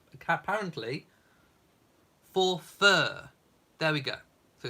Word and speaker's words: Forfar: correcting me I am so sorry it is pronounced apparently for fur there we go so it's not for far it's for F Well try saying for f five times I stand corrected it's pronounced forur even though it's spelled for far uh Mary